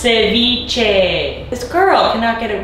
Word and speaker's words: ceviche: camera say you're lying it's pronounced ceviche this girl cannot get